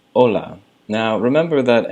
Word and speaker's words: hola: to say hello it's hola now remember that anytime there's a word in Spanish that begins with the letter H you never pronounce it it's always silent so that's why you